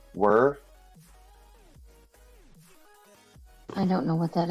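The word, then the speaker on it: Wer: I believe that's how you pronounce it. W-E-R. Whir.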